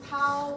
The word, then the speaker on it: tau: You know how to pronounce this, right? This is tau will equal to V over volumetric flow rate V naught.